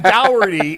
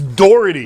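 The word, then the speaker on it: Daugherty: Do you walk through a door or do you walk through a dower? Brad Doherty. Well, that doesn't mean anything because people pronounce things Doherty. Doherty. I mean, Mark Shapiro goes by Mark Shapiro. I'm saying he calls him Doherty. It's Doherty. Listen, from the East Coast, it's Doherty.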